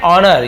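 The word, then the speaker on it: honour: Birbal said, Birbal ने कहा, योर majesty, Maharaj, that is एन ऑनर, ये एक सम्मान है, ऑनर यानी सम्मान होना, तो एस साइलेंट होता है, केवल ऑनर पढ़ते हैं, सम्मान है फॉर मी, मेरे लिए सम्मान है।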